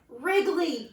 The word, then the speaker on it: Wrigley: with a W, but he's kind of a silent W because we hear the sound, but his name is Wrigley, and it's spelled W-R-I-G-L-E-Y.